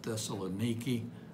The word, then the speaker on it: Thessaloniki: and second thessalonians thessalonica some of my middle eastern friends pronounce it thessaloniki but i can't quite get my southern tongue around that so i keep saying thessalonica it's one of the